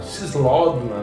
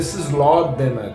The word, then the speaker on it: Cislódena: Cislódena, né? Acho que em português é Cislódena. Tem a sílaba tônica, nesse caso é o E.